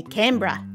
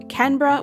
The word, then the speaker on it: Canberra: city in australia canberra i think if you're from a show you have like a more like a bright a sound you say canberra i've heard it pronounced canberra with like an n sound in both camera with um an m sound i'm not really sure